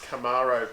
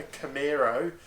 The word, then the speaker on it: Camaro: Could people learn how to pronounce Camaro properly? There's no fucking E in it. It's not a Camaro, It's Camaro, okay?